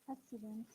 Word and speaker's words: accident: Look, first C is ka and second C is sa sound, though they are double consonants. When they pronounce different way or differently, we must pronounce them, both of them.